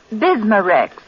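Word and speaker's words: Bisma-Rex: have to remember that bismar Rex is that how you say it that's right ma'am b i s m a hyphen re X bismar ask for bismar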